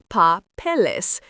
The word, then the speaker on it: papeles: Papeles, pronounced papeles. Now you have that E sound between the L and the S, making it easier to pronounce.